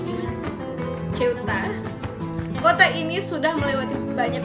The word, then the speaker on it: Ceuta: Bacanya gimana sih? Ceuta.